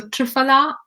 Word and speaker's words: triphala: of excess kapha is triphala so triphala or triphala as the indian pronunciation is is a combination